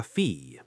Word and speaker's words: fille: The word for daughter is la fille. L-A-F-I-L-L-E. The double L sounds like a Y sound.